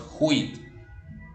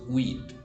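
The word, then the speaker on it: huit: 8 y no decimos quit como sería con una h en inglés decimos Uy porque en el francés la H también es muda no tiene sonido Ok qué reglas se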